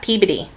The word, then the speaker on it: Peabody: We pronounce that Peabody.